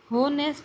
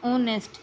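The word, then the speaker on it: honest: होनेस्ट या ओनेस्ट, इसे हम बोलते हैं ओनेस्ट। इसमें जो एच है वो क्या रहता है? साइलेंट रहता है, इसको हम बोलते नहीं हैं, इसे क्या बोलेंगे?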